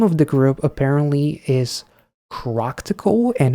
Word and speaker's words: ChRocktikal: So you put all of that together, and it's ChRocktikal, ChRocktikal, or ChRocktikal. But if you do struggle with the pronunciation of the name, you can just say CRTK, I guess.